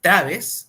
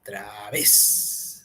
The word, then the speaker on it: través: mayor fuerza de voz Es traves o través través no entonces la mayor fuerza de voz es en v y